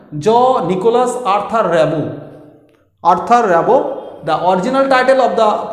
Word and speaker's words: Rimbaud: Rimbaud, the pronunciation, note as the pronunciation, Jean-Nicolas Arthur Rimbaud.